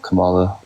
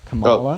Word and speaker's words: Kamala: out her policy also her name is pronounced Kamala not Kamala sorry I know you